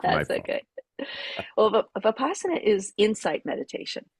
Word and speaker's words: Vipassana: yeah, Is the it's V silent? Is that no, it's a Vipassana.